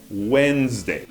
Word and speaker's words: Wednesday: Ninguém diz Wednesday depois da segunda série, né? É Wednesday. E todos sabemos que é often em vez de often.